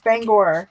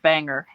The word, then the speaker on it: Bangor: And Isn't it Bangor? To us. It's Bangor, yes. But a I lot only of people know that say because I've listened to Stephen King enough times. Yes. And people will call it Bangor, Maine. And it's like, no, it's not Here. It's even called that in a song. I don't recall which song though. But It's I called heard Bangor. They called it Banger.